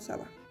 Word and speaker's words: ça va: O cuando hablábamos de los saludos, con ça va. Se pronuncia como ça va.